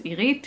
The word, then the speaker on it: Irit: There's a softer R to it, and the, you know, the emphasis is on the second syllable and not on the I, irit.